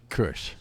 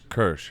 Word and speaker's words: Kürsch: And what's your how do you say your last name? Kürsch. Kürsch.